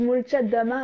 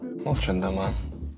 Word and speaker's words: Молчат Дома: vous allez me dire mais pourquoi elle dit Molchat Dama alors que c'est un O avant le M? Eh bien c'est parce que en russe, le O qui n'est pas accentué est prononcé comme un A.